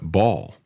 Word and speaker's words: Baal: uh pagan god um Baal. I always heard it pronounced that way growing up, but um because frequently mentioned in the Bible, but a lot of people pronounce it ball.